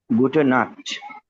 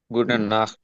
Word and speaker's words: Gute Nacht: এটা হচ্ছে Gute Nacht. হ্যাঁ, সৌরভ ভাইয়া বলেন, এটা কি? গুডেন নাথ।